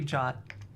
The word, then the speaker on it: JWT: I know it's yeah it's got that weird jot pronunciation because but come on it's spelled JT so I'm going to say JT I know it's supposed to be jot it's even I think it's probably even on the Wikipedia they probably have the pronunciation yeah jot same as the word jot so like if you